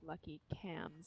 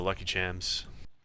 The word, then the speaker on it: Chams: told that lucky HS is actually pronounced lucky cams as in chameleon but this is just